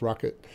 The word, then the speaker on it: rkt: a relatively new one or rkt it's pronounced rocket that actually incorporates a